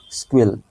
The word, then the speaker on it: SQL: this structure query language actually it is called squeal actually the pronunciation is squeal okay and you should have to know that